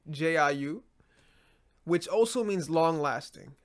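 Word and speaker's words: 九: 9 is pronounced as Jiu, Jiu, which also means long lasting.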